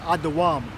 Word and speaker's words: Edom: Edom is pronounced Adawam.